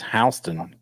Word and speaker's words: Houston: as Houston but it's Halston County Georgia Houston Texas spelled the same but not the same so so so I'm